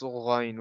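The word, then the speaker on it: غين: Yes, it's Ghain.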